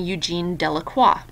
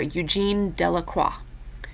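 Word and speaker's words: Eugène Delacroix: is a guy named Eugene delaqua okay his name is down here Eugene delaqua okay you don't really pronounce the X and so he painted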